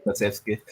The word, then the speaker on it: Kulusevski: or added time or So again, I mean Koloczewski or however you pronounce his name, him. Kulusevski.